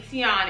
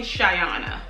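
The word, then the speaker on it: Tionna: common top 50 even my name Tiana it's spelled t-i-o-n-n-a it's not right like t-i-a-n-a so people mispronounce my name all the time even Siri she calls me shayana that's how she pronounces my name so I was feeling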